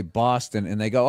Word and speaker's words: Boston: from and I'll say Boston and they go oh Boston it's like that's how people from the Midwest say it right so b os becomes b a w b like saw right say job is